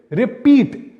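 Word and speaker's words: repeat: बिल्कुल सही, रिपीट, पीठ पर बहुत ज्यादा स्ट्रेस दिया जा रहा है। इस वर्ड का स्ट्रेस सिलेबल हो गया पी।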